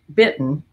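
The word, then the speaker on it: Bitton: of buffalo jeans which is david bit bit bitten that's how you pronounce it i got these because they are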